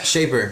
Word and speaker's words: Shaper: Is that how we're pronouncing it? Yeah, Shaper.